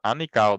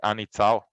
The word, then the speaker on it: Anitsao: I want to mention here Anikao, that is another, the right pronunciation is Anitsao, that is our PhD here with me and Chao Gao.